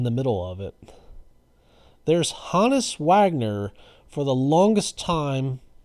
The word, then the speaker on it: Honus: For the longest time throughout my life, I mispronounced his first name as Honus, but I heard other people call him Hannes, and I looked it up on Baseball Reference, and the phonetic spelling says it's Hannes, so I apologize to Hannes